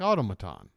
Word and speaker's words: automaton: learn a word like automaton the stress on the TA where is there a TA Otto ma tan what which syllable one two three or four oh tomatan automaton automaton